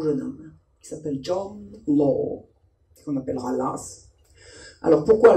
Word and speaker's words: Law: Quand on connaît un tout petit peu l'anglais, on sait que le W ne se prononce pas S. Donc pourquoi le système de Law est-il devenu le système de Lass? Parce que les gens ne parlaient pas bien l'anglais.